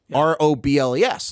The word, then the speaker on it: Robles: R O B L E S and it's like Robles. But Eagles is Eagles.